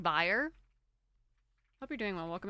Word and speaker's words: B1R3: Is it pronounced like buyer?